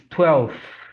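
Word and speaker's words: twelfth: And when it comes to ordinal numbers, instead of V, we're going to have F in the sound, in the pronunciation, and also in the spelling, in the writing of the number. And number 12 is going to be 12th with F. So it's not 12, it's 12th, 12th.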